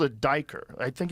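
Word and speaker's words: duiker: It's called a diker. I think it's called a diker, D-I-K-E-R. I think that's how you say it.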